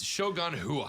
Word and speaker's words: Shogun Rua: All right, so I did say his name wrong, but yeah, I got Namajunas right. It's Shogun Rua.